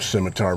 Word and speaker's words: scimitar: memphis press scimitar s-c-i-m i'd never heard of a scimitar before i had to look it up and um i think that's the proper pronunciation a scimitar is a